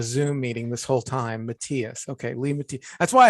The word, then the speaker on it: Matias: Matias.